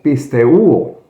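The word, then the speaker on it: πιστεύω: Bueno, pues creer en el griego, mis apreciados hermanos, es pisteuo. Ya le digo, puedo equivocarme en la pronunciación, es como pisteuo, ¿ya?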